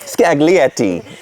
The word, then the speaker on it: Scaglietti: Scaglietti, yes.